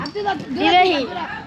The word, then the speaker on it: Dhivehi: Divehi.